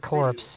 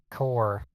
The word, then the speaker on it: Korps: what was and also it's not corpse it's core you don't pronounce the pns it's just death core is grenadier in the